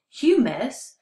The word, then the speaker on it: humus: But humus, pronounced humus, is completely different than the rest because it's actually dead and decomposing bits of plants and leaves.